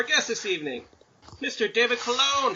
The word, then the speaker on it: Colon: David Colon. How are you, sir? Did I pronounce that I'm correctly? doing good, man. Yeah, you pronounced it perfectly. You didn't call me Colin, so it's all good.